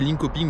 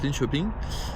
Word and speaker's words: Linköping: Ça s'écrit Linköping, mais apparemment, merci les abonnés sur Instagram, ça se prononce Linköping.